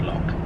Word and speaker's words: loch: It's pronounced lock.